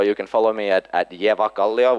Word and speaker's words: Evakallio: can follow me at Evakallio, which is the correct way to pronounce it.